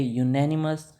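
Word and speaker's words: unanimous: आपका हो गया गलत ये है यूनेनिमस इसका यूनिवर्सिटी भी like university is also you this is नॉट अ वो वोवेल साउंड नहीं है यूनिवर्सिटी में ठीक है ये अ यूनिवर्सिटी होता है।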